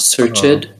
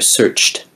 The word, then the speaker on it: searched: sentence near the end searched um the ed endings have a kind of irregular pronunciation after the ch sound you want to make a t sound not searched but rather searched there's yeah this is